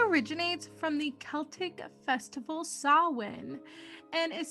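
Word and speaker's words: Samhain: favorite holiday halloween originates from the celtic festival sawin and is spelled sam hayne like it is pronounced in supernatural but it is pronounced sawwin which can be confusing at times it is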